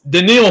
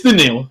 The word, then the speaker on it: Danielle: And I know it's Denil Hunter, but it's spelled Danielle, but it's it's Denil Denil Hunter.